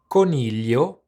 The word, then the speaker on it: coniglio: Coniglio, The Italian word for rabbit or bunny, can be quite difficult for English speakers to pronounce because it contains the infamous gli, sound.